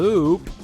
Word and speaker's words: loup: ループ Loop? フランス語では合格。ちなみに La Lupa. 弓はルーな。 It's French for wolf. It's pronounced like the name Lou.